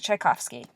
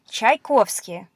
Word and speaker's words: Tchaikovsky: in English it's called the Giselle it's a Tchaikovsky okay so some more consonants yeah is what